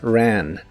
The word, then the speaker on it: ran: La R es suave y la A de esta palabra la pronuncias como una combinación del sonido E y el sonido A. Ran, ran. Si se te dificulta pronunciarla al principio, puedes decir los sonidos E, A separados y luego juntarlos.